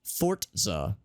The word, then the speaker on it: Forza: ago uh she played some been playing some forza actually i just saw from one of the developers allegedly it's pronounced fort za i did not know that but apparently according